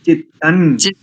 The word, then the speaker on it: चित्तं: उसके बाद चित्तम नहीं करेंगे, चित्तम नहीं चित्तन। चित्तन चित्तम, अच्छा मैंने चित्तम बोला था, ठीक है।